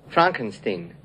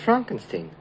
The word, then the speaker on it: Frankenstein: Frankenstein. You're putting me on. No, it's pronounced Frankenstein.